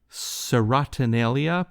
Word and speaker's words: Serotonalia: This is from your album Serotonalia. Please correct my pronunciation.